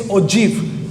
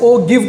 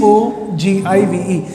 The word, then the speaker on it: ogive: The pronunciation is ogive curves. Don't call it as ogive curves. That is not the correct pronunciation. The pronunciation is O-J-E-E-V, right? But the spelling is O-G-I-V-E, and you read that as ogive curves.